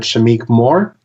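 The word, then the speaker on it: Shameik Moore: a joke i'm sorry if i butchered the pronunciation but shamiq more yeah that's it that's how you say it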